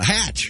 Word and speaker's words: Hatch: it Richard something yes it rhymes with with match uh hatch Richard Hatch hey yeah